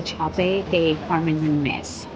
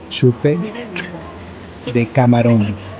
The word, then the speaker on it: chupe de camarones: So we have the chape de camarones. Chupe de camarones. Thank you.